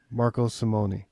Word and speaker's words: Marco Simone: there with um tell help me with the pronunciation Chris is Marco Marco Simon Marco Simone okay Y and um the director of agronomy